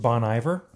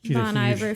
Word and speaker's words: Bon Iver: It's featuring and co-written by Justin Vernon, made famous from the group Bon Iver. or Bon Iver. Yeah, that's... I don't know the correct pronunciation.